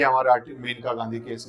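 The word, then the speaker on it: Maneka: आपको पता होना चाहिए मेन का गांधी केस स्पेलिंग मने का लिखते हैं उसको लेकिन बोलते मेनका है ठीक है मेनका गांधी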